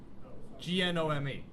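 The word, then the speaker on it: GNO/ME: So the compatibility layer works on both Orca and, is it pronounced Gnome or Nomi? Gnome.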